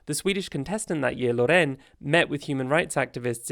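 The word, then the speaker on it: Loreen: again that year interestingly Loren did meaning the next Eurovision would be hosted in is that how you say it Lauren not Laureen Laureen it's Loren Sweden and Sweden went all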